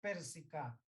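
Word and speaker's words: persica: k pues de que se escribe per se cae pero la pronunciación es pérsico nunca olviden también algunos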